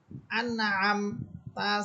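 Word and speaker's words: أنعمت: প্রথম হচ্ছে আন, হামসা এটা শক্ত হরফ, আন হামসাকে নুনকে ধরে ফেলবে, আন। এরপর হচ্ছে আম, আইন, আইন হচ্ছে কণ্ঠনালী মধ্যখান থেকে, আইন মিম সবর আম, আনআম, তা সবর তা, আনআমতা, সিরাতাল্লাযিনা আনআমতা।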